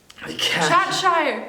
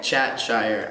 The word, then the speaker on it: Chat-Shire: Chatshire. Chatshire.